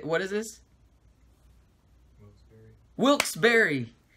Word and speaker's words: Wilkes-Barre: Wilkes-Barre. It's spelled strange.